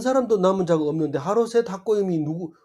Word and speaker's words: 하로셋 학고임: 이 하로셋 학고임은 시험에도 안 나올 거고 앞으로도 별로 도움이 안 될 거지만, 오늘 한번 따라 해봅시다. 하로셋 학고임. 하로셋 학고임.